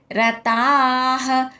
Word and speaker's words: రతాః: త ఏత్వం పొల్లు హితే రతాః రతాః రః రస్వంగా పలకాలి త దీర్ఘంగా తర్వాత విసర్గ ఉచ్చారణ హ రతా హ సన్నియం యేంద్రియగ్రామం